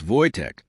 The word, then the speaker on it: Wojtek: It's Wojtek, but Americans pronounce it wrong.